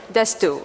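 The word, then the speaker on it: D'Astous: To pronounce it? DÁstous. DÁstous.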